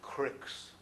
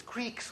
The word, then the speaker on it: creek: make fun okay what michiganders refer to as cricks not critics it's Creeks okay c-r-e-e-k is not pronounced correct like Michigan is saying it's Creek